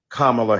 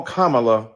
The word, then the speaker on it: Kamala: insisted upon misnaming mispronouncing Kamala Harris do you call Melania Melania do you call Ivanka Ivanka then call Kamala Kamala then call vice president